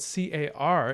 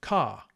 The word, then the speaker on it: car: For example, the word spelled C-A-R is pronounced with a consonant at the end in some dialects, such as my own, car, and in others it's pronounced with a vowel at the end, as if it were ka, no R, although the R is written.